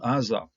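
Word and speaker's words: עזה: Now this is an ayin, Zayin, hey, and if you just read it as such, based on what we know of how to pronounce the Hebrew consonants, we would be calling it Aza, and Aza is power.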